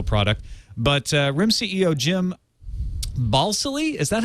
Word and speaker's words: Balsillie: But RIM CEO Jim Balsillie, is that how you say his name? Well, it's better than ball silly.